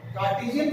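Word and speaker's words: Cartesian: निकालनी हो तो दो व्यूज में निकालते हैं, कार्टेशियन फॉर्म में और वेक्टर फॉर्म में। कार्टेशियन फॉर्म में और दूसरे को क्या बोलते हैं वेक्टर फॉर्म।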